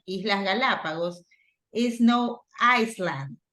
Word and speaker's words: Galapagos: right so you have Galapagos what there you go so it's no Galapago Galapagos Iceland but Galapagos Island like this I land okay